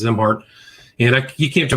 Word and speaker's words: Szimhart: His last name is spelled S Z I M H A R T pronounced Zimart.